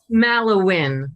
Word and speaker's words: Mallowan: Mallowan, like win. Okay, everybody. Mallowan.